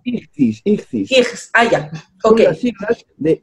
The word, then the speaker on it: Ichthys: Hay un famoso símbolo de un pez de Cristo, sí, que se llama Ishtis, no sé cómo es que se pronunciará realmente, pero bueno. Ichthys.